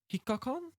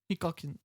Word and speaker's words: Hikakin: When I was looking it up, they had this year was meant to have Hikakan, I think. Oh, Is that how you say his name? Hikakin.